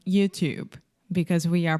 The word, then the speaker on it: YouTube: say you you perfect YouTube YouTube so the last sound is the B sound there is no e at the end in writing there is an e but in speaking the E is silent YouTube YouTube okay so